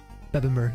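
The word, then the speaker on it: Bebbanburg: Utrid of Bamber. Beenmber, that's how they say it.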